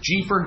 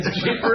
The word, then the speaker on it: Jeefer: Jeefer. Never heard that name in my whole life. Right. All I know is it's perfect for him because it rhymes with reefer. Right. Jeefer and reefer.